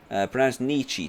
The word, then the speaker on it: Nietzsche: Pronounced Nietzsche.